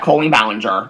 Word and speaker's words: Colleen Ballinger: made about Colleen Ballinger we know that Colleen Ballinger is how it is pronounced so that's the one